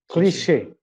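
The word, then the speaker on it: cliché: said correctly uh a cliche you were saying a clash or something I can't remember exactly I said cliche that's right so it should be CLE e c cliche okay so those types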